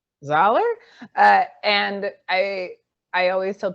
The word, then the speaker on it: Zollar: it was pronounced differently it's solar okay how do you say dollar dollar yeah so it's dollar yeah all right starting